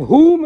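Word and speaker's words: Hoom: And whom is the jap you can do.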